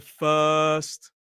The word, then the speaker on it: first: The girl heard the first word. You are very welcome. What about What about first? Then we don't pronounce the R in first either.